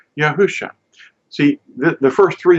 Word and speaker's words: Yahusha: course going in this direction Y and it's pronounced yahusha see the first three letters yaho yah Sha